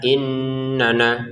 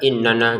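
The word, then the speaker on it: إِنَّنَا: Kemudian nun bertasydidnya jangan lupa didengungkan innana. Jangan sekedar innana gitu ya.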